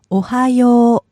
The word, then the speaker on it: おはよう: おはよ Notice how she holds the last part.